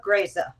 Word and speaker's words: Irma Grese: It's been mispronounced in a lot of documentaries too. Her name is Irma Grese. Grese. And she Greza.